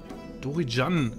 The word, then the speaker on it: Dorian: das machen wir noch es wird dorian ausgesprochene entschuldigung liebe dorian entschuldigung